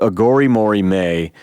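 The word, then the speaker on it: Aghori Mhori Mei: I've already talked about his proclivity for weird titles, but it's called Agori Mori Me, which is spelled Aghori, Agori, Mhori, Mori, Mei, May.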